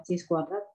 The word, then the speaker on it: chi-squared: dapet yang kayak X lambangnya x kuadrat itu bacanya adalah chi-squared misquen dapat ya Na ketiga